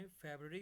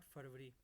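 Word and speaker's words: February: ठीक है, जैसे जनवरी होता है नॉट जनवरी, इस तरह फेबररी होता है नॉट फरवरी।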